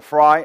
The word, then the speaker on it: fry: 뭐라고 말해도 뭐 이런 말, 이 말인데 이게 첫 발음이 fair, 그죠? F. 자, 사전에 소리를 밀고 나가다가 발음을 하는 게 좋습니다. 갑자기 있다가 fry 하는 것보다는 밀다가 터트리는 게 좋아요.